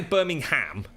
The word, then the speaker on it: Birmingham: It's Birmingham. That's it. Some people say Birmingham, but Birmingham. Birmingham. Gum. It's got a gum to it from people from Brum. Birmingham. I'm from Birmingham. I'm from Birmingham.